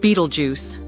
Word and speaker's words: Betelgeuse: It's pronounced Beetlejuice, just like the 1988 film starring Michael Keaton.